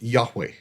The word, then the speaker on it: Yahweh: Today, most scholars agree that it is pronounced Yahweh.